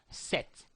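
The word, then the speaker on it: cette: feminine and singular you will need to use set c t set this is used to indicate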